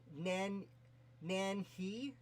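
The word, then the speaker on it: Nanyehi: Her Native American name, I believe, is pronounced Nanyi, and it was the Europeans having as much trouble as I am saying it that was anglicized to Nancy.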